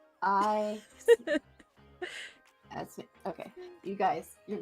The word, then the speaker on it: Aasimar: It's like Aasimar. No, not ASMR. Aasimar. Okay, you guys, you're not helping in chat. But another When did they ever help? Helpful? That's a joke. ASMR. ASMR? Aasimar?